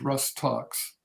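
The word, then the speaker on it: Rhus tox: the remedy then is usually most effective is rust talks that's spelled a-r-g-r-r-h-u-s and second word t-o-x abbreviated usually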